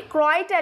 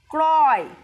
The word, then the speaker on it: ক্রয়: কয় র-ফলা অন্তস্থ অ, ক্রয়, ক্রয় মানে কেনা, ক্রয়। উচ্চারণটা একটু লক্ষ্য করো, কয়ের সাথে র, ক্রয়, ক্রয় অর্থাৎ কেনা, ঠিক আছে?